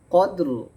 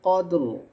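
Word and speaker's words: قدر: ইনজালনাহু লাইলাতিল কদর কদ বলে তারপরে রটা আনতে হবে আর র থেমে গেলে র উচ্চারণ মোটা হবে লাইলাতিল কদর লাইলাতিল কদ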